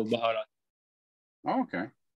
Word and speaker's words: baharat: Yeah, for some reason I was thinking it was pronounced habanero. Am I? No, 7 spices. Yeah. They call it baharat.